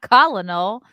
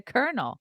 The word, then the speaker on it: colonel: the spelling of colonel it's not columnal but they want they expect you to know to pronounce a kernel or colon colonel call